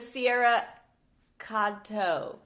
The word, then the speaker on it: Sierra Katow: Hi, I'm here with Sierra Katow.